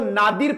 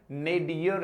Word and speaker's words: nadir: लगभग लोग इसको नादिर प्रोनाउंस करते हैं, और आज मैं कह देता हूं यह नादिर नहीं है, नेडियर है। नेडियर बोलो ना, क्या होगा? नेडियर होगा दोस्तों, नादिर नहीं होगा दोस्तों।